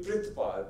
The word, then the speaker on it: Perthpal: Well, that's not how you pronounce the name, actually. It's supposed to be Perthpal. Perth means world. Pal means care.